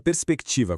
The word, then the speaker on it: perspectiva: Na palavra perspectiva, quando se fala rápido, o R quase não sai, parecendo até um som de S duplo. Mas muito cuidado, RS não é um dígrafo, é um encontro consonantal autêntico.